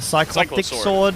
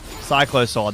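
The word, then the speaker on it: Cyclosword: this item, but and I'm going to pronounce it wrong, but the the the psych the cyclic sword cylo sword. Yeah, that cycllo sword.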